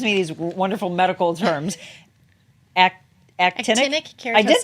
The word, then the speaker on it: actinic keratosis: Actinic keratosis. I did say it right. Yeah. Actinic keratosis.